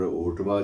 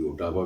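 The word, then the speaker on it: Ottawa: और ओटावा जो राजधानी है वहाँ की, ओटावा भी बोलते हैं कुछ लोग, ओटावा बोलते हैं, दोनों उच्चारण जो है अपने ढंग से ठीक हैं।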